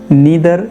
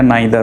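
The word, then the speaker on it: neither: नेवर, नीदर या नाइदर, दोनों pronunciations सही हैं। हम लोग अक्सर क्या सुनते हैं नाइदर, तो हमें लगता है सिर्फ नाइदर सही है, लेकिन इसे नीदर भी कह सकते हैं।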